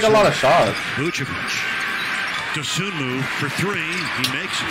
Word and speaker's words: Dosunmu: Y'all let this dude's name is Dosunmu. It's like three syllables. Io Dosunmu. Dosunmu.